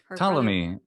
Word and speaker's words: Ptolemy: um is it tolemy ptolemy is usually i always say his name in english okay and it's spelled with a it starts with a p good old silent initial p in english yeah i just like